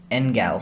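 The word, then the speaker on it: engel: angel it comes from the old english angel ingall sorry hard g and the old french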